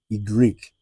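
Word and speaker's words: i grec: Then we have uh, we have Y is not pronounced as Y in English. It is pronounced as Y Greek or Y Greek.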